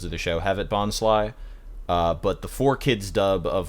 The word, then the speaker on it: Bonsly: switched dubbing companies, so it's supposed to be pronounced Bonsly, and most episodes of the show have it Bonsly.